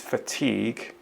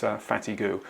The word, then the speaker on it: fatigue: the missing word is fatigue if you look at that word the spelling of it you can perhaps understand why somebody might pronounce it fatty goo all the mispronunciations in